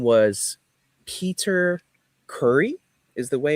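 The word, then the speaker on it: Khoury: Uh, his name was Peter Curry is the way it's pronounced.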